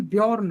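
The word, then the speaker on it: Björn: नाम है उसका भाई, जॉर्न नाम है ना, तो वो भाला फेंक के जब मारता है सीधा फ्लोकी के है ना, उसके सैनिक के वैसे मैं बता दूं उसका प्रोनाउंसिएशन ब्योर्न होगा, हाँ बिल्कुल।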